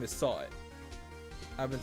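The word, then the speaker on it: Sahwit: So his name is Sawit.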